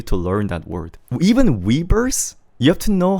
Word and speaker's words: Weverse: Even Weverse, you have to know how they pronounce it in Korean. As in, they say it like this. Weverse. Weverse. We don't say Weverse. Unless maybe you're Felix.